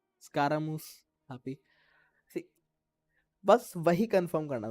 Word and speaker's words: Scaramouche: और मैं सही बोल रहा हूँ, ऐसे प्रोनाउंस करना है, मूस, स्कारामूस, हैप्पी.